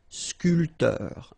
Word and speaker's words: sculpteur: This P here is not pronounced. So, sculpteur, un sculpteur.